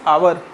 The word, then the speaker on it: hour: Pronunciation is hour. H is written but pronunciation is hour.